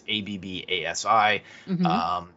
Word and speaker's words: Abbasi: named Ali Abbasi, and I'm not sure how to pronounce his last name. It's Abbasi.